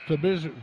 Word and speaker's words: Fabrizio: His name's pronounced Fabrizio, isn't it? Wyatt Fabrizio?